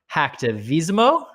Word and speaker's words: Hacktivismo: And he's also the author of Hacktivismo. Did I pronounce that right?